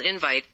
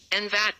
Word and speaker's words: invite: For example, there are two words spelled invite, one is a verb and is stressed on the second syllable, the other is a noun and stressed on the first syllable.